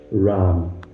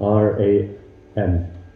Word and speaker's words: Ram: Sita Ram. Sita, S-I-T-A, Sita Ram, R-A-M. It's not Ram, like Ram, R-A-A-M. Spelled like that.